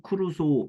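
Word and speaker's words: Crusoe: 로빈슨 크루소인데 여기 보면은 로빈슨 크로이츠나에르라고 이렇게 나와 있죠. 이게 뭐냐면은 아버지가 독일 사람이에요. 근데 이게 영국에서 살았으니까 영국식 발음으로 크루소 이렇게 되어 있다.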